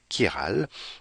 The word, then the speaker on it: chiral: Et donc, ça ne se prononce pas comme chi, mais plutôt comme si c'était un K avec un I, chiral.